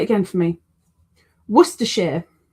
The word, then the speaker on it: Worcester: You don't say it like completely wrong. You just say it too poshly.